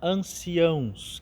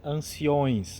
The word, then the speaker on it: anciãos: a ideia daquela frase cuidado também com a palavra anciãos que aparecem nessa leitura por vezes nós ouvimos alguns leitores pronunciarem Anciões Anciões não existe essa palavra ancião e o Salmo